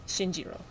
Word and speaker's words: Shinjiro: pleased to meet you sure it's actually pronounced Shinjiro not okay but all right hey